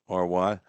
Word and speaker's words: Maury: He did tell me that his high school is not pronounced Murray like we pronounce Murray County, Maury.